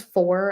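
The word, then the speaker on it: Fohr: be bought off easily next one is four and not the number four it's spelled f-o-h-r um that one that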